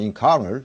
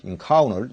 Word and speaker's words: encounter: 근데 nt가 붙으면 t가 드랍되는 거 나중에 설명 들어갑니다만 incoun incoun 이렇게도 발음을 합니다.